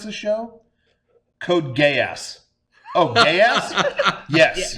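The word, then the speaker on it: Geass: pronounce this show code gay ass oh gay ass yes g g how is it spelled yes g e a SS GE code gay ass yes code gay ass that's how you say it yes code gay great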